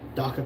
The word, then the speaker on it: DACA: I got to figure out how to pronounce Daka or DACA. Da rhyming with cocoa. Daka.